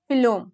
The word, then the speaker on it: phloem: Okay, फ्लोम, phloem. Okay, xylem helps in transportation of water and minerals, and phloem, which starts with P but pronounced at f, food, you can relate it with food.